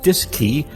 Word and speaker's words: DSKY: digital display and keypad known as the dsky pronounced disk key on board both the cm and lm mission